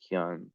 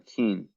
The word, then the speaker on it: Kian: know it's not pronounced Kian. But basically, I'm gonna call. I need to look it up. Irish name. So how's it pronounced? Kian. Kian, like Keanu. Kian is pronounced Kian or Keen.